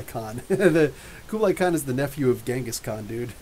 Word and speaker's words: Genghis Khan: The Kublai Khan is the nephew of Genghis Khan, dude. Actually, it should be pronounced Genghis Khan, but we're Western.